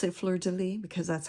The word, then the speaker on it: fleur de lis: I pronounce it fleur de lis because that's how it's, you know, that's how I've always been taught to pronounce it.